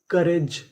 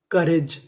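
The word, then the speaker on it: courage: यानी ओ यू हमारा साइलेंट होता है।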